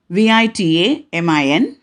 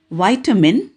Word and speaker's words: vitamin: is vas fourth word v-i-t-a-m-i-n american pronunciation vitamin whereas british pronunciation vitamin i hope you have